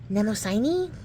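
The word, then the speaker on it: Mnemosyne: then six of cups is Nemo right because MN is silent the m is silent I I heard stepen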